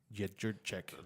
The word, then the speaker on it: Joanna Jędrzejczyk: just wanted pound to know champion, how to pronounce that name. It's Jędrzejczyk.